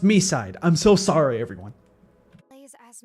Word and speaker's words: Mi: It's pronounced Mi.